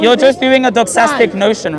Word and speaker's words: doxastic: It's a doxastic notion. You're just trying to do What was praise. it? I'm gonna pronounce it. Doxastic. Doxastic. Like a doxology.